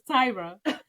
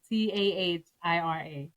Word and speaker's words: Tahira: So her name is Tyra, but the way she spells is different. Tahira. Okay. Which we happen to Google, and it says pronunciation. You do pronounce the H, but how you gonna